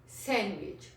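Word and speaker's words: sandwich: सैंडविच means D हमारा इसमें drop हो जाता है.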